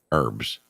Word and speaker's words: herbs: For those idiots out there, you don't not pronounce the H in herbs.